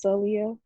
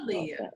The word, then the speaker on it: Celia: A lot of people mispronounce my name, but it's Celia. Oh, Sorry. Celia.